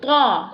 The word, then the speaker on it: ط: Ta pronounced from the tip of the tongue touching the roots of the top two front teeth.